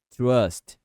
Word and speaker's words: trust: should we trust you perceba a pronúncia de trust é trust trust trust esse U aqui é bem Sutil vai falar trust trust